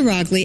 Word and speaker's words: Roggli: just a little bit rly actually rhymes with dogly so people see my